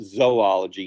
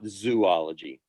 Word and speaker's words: zoology: entire chapter on invertebrate zoology and it is pronounced zoology not zoology um but we have an entire chapter on